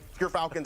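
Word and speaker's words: Gyrfalcons: I got my Gerfalcons on. We actually, off screen, we're figuring out how it's pronounced. But Gerfalcons, everyone, so anyone who mispronounces it, that's how you say it.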